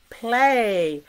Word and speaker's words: play: And A and Y makes it like long vowel A, play.